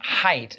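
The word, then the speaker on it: Haidt: to me correct me it is Jonathan height is how how you pronounce it, but it it looks like hate. H A I D T.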